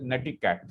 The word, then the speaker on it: netiquette: Okay, Please see that the word is pronounced as netiquette. Combination of net, from internet, and etiquette.